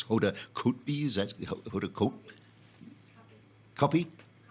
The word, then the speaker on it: Hoda Kotb: It's Hoda Kotb, is that Hoda Kotb? Copy? Copy, okay.